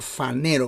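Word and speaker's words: φανερόω: tienes el término fanero se escribe con p pH fanero y se pronuncia fanero como si fuera una F fanero esto tiene que ver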